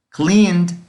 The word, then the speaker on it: cleaned: Cleaned suena una D al final, cleaned. Entonces no va a ser cleaned, no. Así se escribe y así se leería si lo pronuncio como está escrito, pero así no debe de sonar. Cleaned, una D al final. ¿Por qué? Porque el verbo en su forma simple termina en una N.